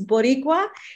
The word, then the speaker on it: Boricua: Is that how you say it? Yeah, so it's Bright Light Boricua. And I know it's strange, guys. It's Boricua, and that's a Puerto Rican term.